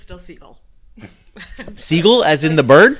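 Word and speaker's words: Sgaeyl: I was gonna say, have we decided how we're gonna pronounce Zaden's dragon's name? It's Scale. I watched a video with the author. Scale. Okay. In my head, it's still Seagull.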